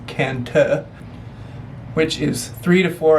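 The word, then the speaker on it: Cần Thơ: hey we're here in Kanto or as we just learned it's pronounced kanta which is three to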